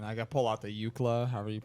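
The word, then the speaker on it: Iklwa: Let's see how Google pronounces it. It's Polish. Yeah. Good to know. YKLW. Thank you, Google. That was great. Not sponsored. Iklava. Iklava. Okay. Iklava. Now we know.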